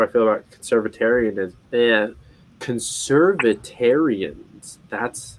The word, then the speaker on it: conservatarian: feel how do i feel about conservatarianism yeah conservatarian that's how you say it and basically the